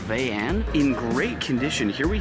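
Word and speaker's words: Vayanne: I believe it's pronounced the Vian or Vayan.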